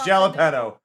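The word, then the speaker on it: jalapeño: It's jalapeno.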